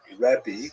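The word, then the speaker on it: רבי: Um and uh in Israel the the term used in late antiquity was rebi that's the actual pronunciation which means my greatness my uh largeness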